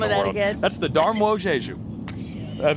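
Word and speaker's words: Dar Młodzieży: That's the Darmojeju. I've been practicing that, and I think I got close. Darmojeju. Am I getting it? Okay. Darmojeju. Okay, he's saying it right.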